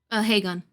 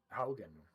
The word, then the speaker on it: Haugen: It's Haugen. You don't count. It's Haugen. I looked it up.